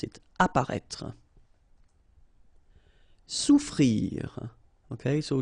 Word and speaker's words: souffrir: Souffrir. Okay, so double F is not pronounced.